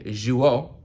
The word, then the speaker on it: João: And his son, John II, pronounced more accurately King João, did not inherit this willingness to allow the Jews to live in peace.